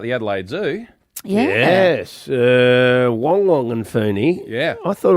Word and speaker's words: Wong: News over the years, she always said Wong Wong. How did we get Why it? has everyone said Wang Wang? That's how it's spelt, but So we've been getting it wong, wong, wong.